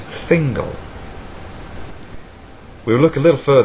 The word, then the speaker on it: Thingol: As letters, we would pronounce this as tahingol, as I previously said, or as phonetic symbols, correctly as thingol.